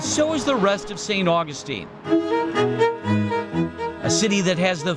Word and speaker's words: St. Augustine: Augustine, Florida, or St. Augustine as it's correctly pronounced, is the oldest city in the United States, but it's also a place many go to feel young again.